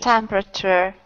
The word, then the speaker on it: temperature: Temperature. Temperature. 4. 3. 3. Try again. Temperature. That's better, yeah. So you don't say the A. It's not temperature. It's temperature. Temperature.